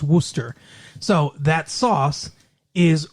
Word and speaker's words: Worcester: okay even though it's spelled like warchester it's pronounced wooster so that sauce is wooster shire sauce thank you uh dr phillips you